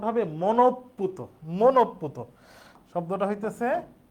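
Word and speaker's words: মনঃপূত: বিসর্গ পুত এ শব্দটার উচ্চারণ আমরা লেখি এটা উচ্চারণ হবে মনপুত মনপুত শব্দটা হইতেছে উচ্চারণ হবে মনপুত মনওকার তহসন্ত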